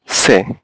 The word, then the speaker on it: Ce: তো এই বিষয়গুলো আপনার ভালোভাবে পর্যবেক্ষণ করতে হবে, যেখানে আপনার যদি শেষে বা মাঝখানে এইচ থাকে তো এইচ এর উচ্চারণটা আসলে উচ্চ থাকে। তাহলে আ বে সে, এটা কিন্তু আবার টি সে হবে না, ঠিক আছে?